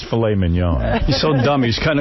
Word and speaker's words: filet mignon: around the world, or how about tenderly aged filet mignon?